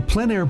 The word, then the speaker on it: plein air: The French pronounce it plein air. Others say plein air. No matter how you say it, there